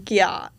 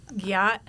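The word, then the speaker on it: gyatt: people's words these days it's g y a TT it's pronouncing Gat Gat sorry yes so someone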